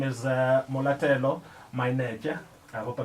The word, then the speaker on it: Mainetje: Her name is Molatelo Mainetje. I hope I pronounced your surname right.